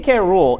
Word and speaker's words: K. Rool: King K. Rool is not cool. For one, It literally rhymes with cool.